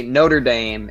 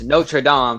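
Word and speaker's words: Notre-Dame: by the way okay americans say notre dame in reference to the sports team or whatever wow it's notre dame to refer to the cathedral ah okay so it's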